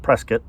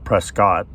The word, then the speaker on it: Prescott: where if you're from Arizona you call it Prescott because that's the proper pronunciation but most people pronounce it Prescott but so one road is paid to Prescott